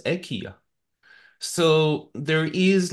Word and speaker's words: IKEA: also in Sweden is pronounced differently it's not pronounced Ikea it's pronounced AIA so there is like this also a cultural